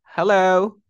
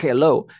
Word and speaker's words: Hello: yo digo Hello Hello ahora no es un Hello es un Hello no es una genio una J o sea es aire que sale to como cuando limpias el espejo es hello hello hello p continuemos ahora tenemos